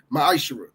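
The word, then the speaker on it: מעשר: of Malachi 3: 8-10 means 10th in Hebrew and it's pronounced maish 10% of every penny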